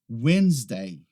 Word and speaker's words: Wednesday: Wednesday. Wednesday. Aqui a gente não pronuncia Wednesday. A gente não pronuncia aquele D no início.